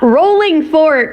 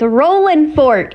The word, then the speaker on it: Rolling Fork: It's not Rolling Fork, darling. It's Rollin' Fork. If you want to say it like the locals, now come on, Ryan.